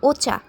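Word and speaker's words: お茶: আমি ওয়াতাশি, চা এর উচ্চারণ হচ্ছে ওচা। জাপানিসে এটাকে বলা হয় ওচা।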